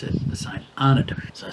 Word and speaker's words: St Arnaud: UD all my French tells me I would pronounce that St ano locals tell me you pronounce it the St Anna I said it is fueled up in Hay